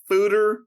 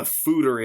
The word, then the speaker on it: Foeder: This is an Embrace the Funk, Fooder Fruits, Passion Fruit, and Pineapple Sour Ale.